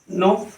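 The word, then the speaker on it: know: के कब साइलेंट होता है, जब ये एन के पहले आता है, जैसे KNO, नो, KNIFE, knife, KNIGST, night.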